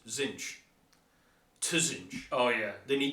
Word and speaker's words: Tzeentch: two silent T's in there are two silent T's in but he pronounced Zen